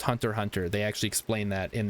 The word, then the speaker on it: Hunter x Hunter: It's Hunter x Hunter, but it's pronounced Hunter Hunter.